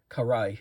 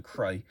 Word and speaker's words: Karai: Karai and both the Karai figure or Karay, I think is how you pronounce it as opposed to Kry.